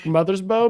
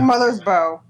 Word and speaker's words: Mothersbaugh: Mark Mothersbaugh, maybe? Mothersbaugh? That sounds like Mother's Bow. Yeah, BAUGH, I think is normally pronounced bow.